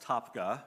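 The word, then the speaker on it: Tabgha: crazy crazy uh our next stop uh was topka it's spelled t-a-b-g-h-a this is where i've run out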